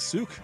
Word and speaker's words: Suck: got to change that you pronounce it like Suk I don't you change